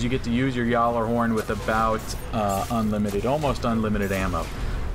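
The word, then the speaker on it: Gjallarhorn: It is Yawler horn, not Galar horn. So they say it wrong in the game. It's a Yawler horn if you say it correctly in Norse. But just in regular old English, it's Yawler horn.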